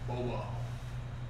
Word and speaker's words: Bobal: How do you pronounce it? Bobal.